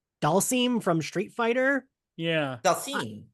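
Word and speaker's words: Dhalsim: Dalsim. I said it Dashlaham. I was just like, I don't know how to say this word. That makes sense. There's an H. So yeah, there's a lot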